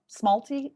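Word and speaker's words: smalti: Kim, if you go back, that's the smalty. Is that how you pronounce it?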